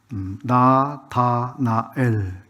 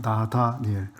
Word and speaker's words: 나다나엘: 분들이 안계실 것 같지만 저는 가끔 실수를 했었습니다 발음을 하는 거예요 나다니엘 나다나엘이 그래서 아 나 다니엘 예 이렇게 하면 되겠구나 이런 생각을 했습니다 나 다니엘 아 나 나다나엘 죄송합니다 나다나이 이름의은 하나의 선